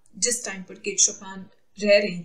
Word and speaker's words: Chopin: Pronunciation is शोपेन नॉट चोपिन।